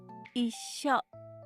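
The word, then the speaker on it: いっしょ: 먼저 초금을 뺀 나머지 문자들의 발음 기호를 볼까요? 마지막 글자 요음을 쇼라고 발음합니다. 쇼의 자음 s의 영향을 받게 되는이 단어에서의 초금은 s 발음이 되겠네요. 그럼이 단어의 발음은 이쇼가 되고 몇 박이 될까요? 네. 네박이라고 하면 안 됩니다. 초금은 글자가 작아도 한 박으로 인정하지만 요음은 두 글자가 합쳐져 한 박의 소리를 낸다고 했으니 이쇼 이렇게 세박이 되는 것입니다.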